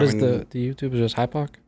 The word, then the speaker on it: hypoc: Is just hypoc?